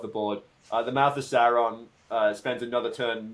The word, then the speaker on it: Sauron: No, it's Sauron. Sauron. You must pronounce it like Galadriel from the Rings of Power.